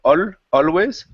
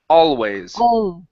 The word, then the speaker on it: always: Move your tongue to the front of your mouth instead of always. All always always.